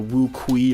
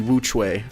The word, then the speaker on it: WuQue: I was calling it like the WuQue or something like that. I don't know. But it's actually pronounced the WuQue.